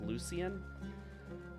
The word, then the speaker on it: Lucian: The divine in this game is Lucian. Sometimes, depending on who you talk to in the game, pronounced Lucien. Lucian is basically the player